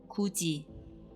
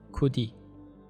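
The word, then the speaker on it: 굳이: exceptions are for example so they are pronounced as kachi instead of katie and kudi instead of kodi when there are two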